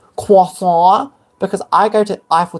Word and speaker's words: croissant: Did you know it's pronounced croissant?